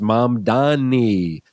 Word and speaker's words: Mamdani: He he was like learn how to say my name. It's mom Dani.